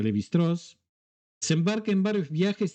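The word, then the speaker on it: Lévi-Strauss: su alumno Cloud levist se escribe levistraus se pronuncia levitraz se embarca en varios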